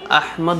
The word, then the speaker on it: আহমদ: আপনি বাংলা ভাষায় যদি বলতে চান তাহলে আহমদ বলতে পারেন বা আহমদ বলতে পারেন। ভুল উচ্চারণ করা এটা প্রিয় নবী সাল্লাল্লাহু আলাইহি ওয়াসাল্লামের সাথে বেয়াদবি, সুতরাং এটা করা যাবে না।